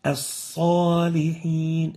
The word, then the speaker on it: الصالحين: And this is wrong. This is sa. And the proper way of pronouncing it is like this. الصالحين As-salihin, not so, but sa. So you avoid pursing the lips upon pronouncing the sa.